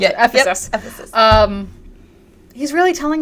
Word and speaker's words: Ephesus: the Church of Ephesus yeah that's how you pronounce it Ephesus Ephesus um he's really telling them to like